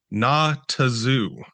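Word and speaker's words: Nahtazu: And so, if you don't remember this, the word when you pronounced it out loud, it was Natazoo, as in not a zoo.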